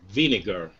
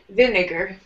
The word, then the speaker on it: vinegar: Vinegar. Yes. Vinegar. Vinegar. Yeah, so it looks like it has the word vine in it, like the kind of plant is a vine.